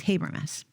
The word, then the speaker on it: Habermas: the historicity of the Resurrection so his name is spelled Gary g-a-r-y and the last name is h-a-b-e-r-m-a-s habermis he's quoted throughout the book um I think